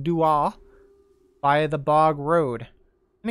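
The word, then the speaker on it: Dooagh: It's pronounced Dua by the Bog Road.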